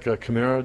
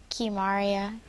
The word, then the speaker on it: Kimaria: And then we got Kamara. I butchered your first name, didn't I? Yes. Yeah, correct me. Kimaria.